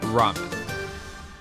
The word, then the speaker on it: ramen: ordering something uniquely japanese it rhymes with my mom's name carmen ramen that's really really good